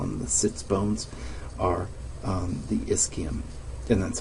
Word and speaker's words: ischium: people call them the sits bones are the ischium and that's how you pronounce this word i-s-c-h-i-u-n is ischium put that in quotes because that's not really